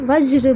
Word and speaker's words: वज्र: आप मेरे साथ वज्र बोल के देखिए, ज आधा हो रहा, थोड़ा सा उच्चारण हो रहा है, और र का उच्चारण अ के साथ संयुक्त होकर पूरा हो रहा है।